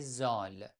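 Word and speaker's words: ذ: Son nom, c'est Zol. Mais on prononce Z tout simplement, comme Z en français.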